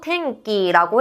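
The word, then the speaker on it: てんき: 날씨를 일본어로 탱끼라고 해요. 때음 발음 뒤에 카키크케코에 키가 왔기 때문에음 발음은 약간 이은과 이은이 합쳐진 탱 요렇게 발음이 돼서 탱기라고 해 주시면 되겠습니다.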